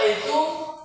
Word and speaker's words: AI: Nah, semua itu didesain menjadi game pin pintar. Nah, ada yang disebut itu yang kenapa yang ada A i dan jadi cintanya semua yang kredit A ii A i tapi bacanya I ya tidak memiliki hanya